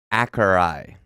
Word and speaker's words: Akureyri: got a pronouncer? Akureyri is the Is the second word?